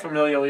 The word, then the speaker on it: familial: head familial that how you say it right familial yeah yeah that and if you're expecting radio